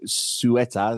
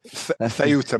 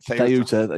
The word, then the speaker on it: Ceuta: Mark Domenech is back from, he was at your place in, how do you pronounce it? Sueta, whatever it's called. Ceuta, mate. Ceuta.